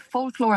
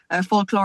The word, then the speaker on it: Folclor: but I've done called folclor and Flora for ages but people would would keep like uh m m saying it wrong yeah yeah they would say folklore and phona sometime so it was